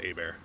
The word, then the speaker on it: Hebert: My last name is pronounced Hebert.